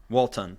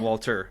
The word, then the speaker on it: Walton: Is it Walton? Walton, yep. Really? Not Walter. It's Walton Goggins.